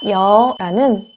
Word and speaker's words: 여: 야채 잘 했습니다 다음 딴 오는 녀 입니다 여 도 없 아름 하기 전에 의미를 먼저 하시면